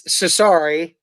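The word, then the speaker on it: Chachere: andre and derek you say it just just pronounce it for us it's cesari nice i'm glad you remembered that yeah andre shishari so yeah shout out to andre man kevin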